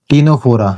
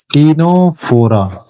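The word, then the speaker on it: Ctenophora: बोलते हैं अपन क्या टीनोफोरा। इसको अपन क्या बोलते हैं? टीनोफोरा। इसको बोला जाता है टीनोफोरा। क्योंकि यहां पर भी पी क्या होता है? साइलेंट होता है।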